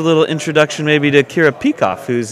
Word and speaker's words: Peikoff: We talked to you yesterday to give us a little introduction maybe to Kira Peikoff, who's... am I pronouncing that correctly? Peikoff, I do believe, yep.